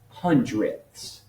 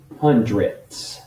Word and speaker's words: hundredths: living in tenths hundredths so this would be pronounced as 36 hundredths i'm gonna run out of room i'll put it here 36 hundredths that ths is important in decimal land i'm